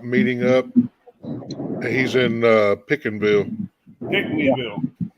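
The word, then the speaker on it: Pinckneyville: Pickneyville. It's pronounced Pickney.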